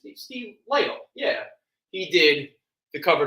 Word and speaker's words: Lytle: Am I right pronouncing that right? Steve Lytle.